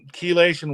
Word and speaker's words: chelation: Oh, spell it. I'm not sure. CHELATION. CHEL. I'm not familiar with it. CHELATION.